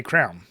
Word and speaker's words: crayon: So in Philly, you just say crown.